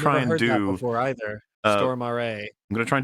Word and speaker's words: Stormare: And it is Peter Stormare is what I've always called him, but I have been told, and it is true, that is not how you pronounce his name. It is Stormare.